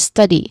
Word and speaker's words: study: So that's the second syllable uh and then the last uh the last word is study which has two syllables with a stress on the first syllable stud.